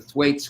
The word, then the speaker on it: Thwaites: donald steinle pointed out that the way it's pronounced by the way the thwaites glacier the thwaites glacier is melting and it's